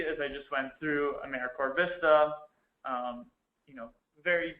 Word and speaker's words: AmeriCorps: tradition to Simply show that it is not pronounced aeric corpse um it's americor and feel free to correct people as they